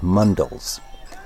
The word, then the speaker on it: mandal: organized by institutions called mundles a mundle the same word English speakers like to pronounce mandala is in this context a